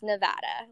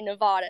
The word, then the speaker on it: Nevada: he's always like it's Nevada like it's how I don't understand how people say Nevada there's no duh in it so everyone in Reno